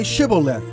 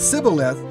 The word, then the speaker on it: Shibboleth: If he replied no, they said, "All right, say Shibboleth." If he said Sibboleth because he could not pronounce the word correctly, they seized him and killed him at the fords of the Jordan.